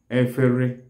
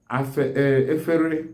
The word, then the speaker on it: efere: All kinds of plates in the kitchen are called wvery. Wvery is spelled as E-F-E-R-Y-E.